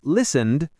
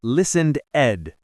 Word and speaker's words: listened: The ED in listened is soft, like listened, not listened ed.